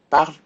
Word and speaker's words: parle: But they are all pronounced the same. Parle, parle, parle, parle. This E sound will disappear from the present. So make sure that you do not pronounce the E with the exception of vous.